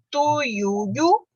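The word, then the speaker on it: tuiuiú: não de S, tá, tuiuiu, Piauí. Olha o tanto, gente, I, A, U, I, olha o tanto de vogal aqui junto. Tuiuiu, Piauí. Continuam com acento na última sílaba, porque elas são oxítonas.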